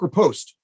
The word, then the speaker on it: riposte: He does the creature does a quick riposte. So what you need to do, or Craig, how do you pronounce that?